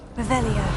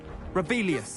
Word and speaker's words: Revelio: Rebellious. You're saying it wrong. Revelio.